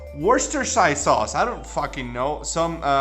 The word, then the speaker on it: Worcestershire: call it english sauce over here but it's pronounced worcestershire sauce i don't know some